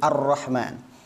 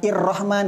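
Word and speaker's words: الرحمن: fathah ini cara bacanya jadi Arrahman Kenapa dibaca Arrahman padahal ini Hamzah wasal bukan irrahman bukan urrahman karena ini ada alif lam Begitu juga dengan alif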